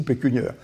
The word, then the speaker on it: pécuniaire: puis un beau jour je comprends que ça se dit pécuniaire bon alors voilà comment